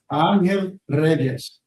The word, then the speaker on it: Angel Reyes: do," because she saw my name, Angel Reyes. That's how it's said in Spanish.